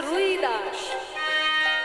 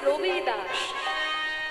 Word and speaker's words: রবিদাস: এই ভজনটি যিনি রচনা করেছেন তার নাম হচ্ছে রুদাস রুদাস আসলে রুদাস তার নাম নয় বাঙালিরা বলে রদাস তার নাম হচ্ছে কি রবিদাস রবিদাস দেখবেন হিন্দিতে একটু উচ্চারণ হয় রবিদাস রবিদাস